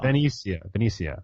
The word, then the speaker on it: Venetia: It's Venetia. Because it's not Venice. It's Venetia.